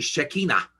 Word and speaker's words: Shekinah: And then we come to an amazing event where God's Shekinah glory, actually Shekinah is the proper pronunciation, blazing fire, light of God's glory comes down so God will dwell with his people.